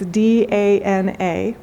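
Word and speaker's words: दान: I will also just tell you that the Sanskrit word for giving, so if you put it into English, it's D-A-N-A, and it's pronounced dana.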